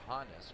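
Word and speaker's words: Honus: And yes, it is Hannes for Johannes. So definitely check that.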